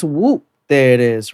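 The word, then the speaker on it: Whoomp: I think it's Whoop. There it is, right? Whoop. There. Very controversial. It's Whoop. Thought you knew. So it's spelled won't, but it's whoop.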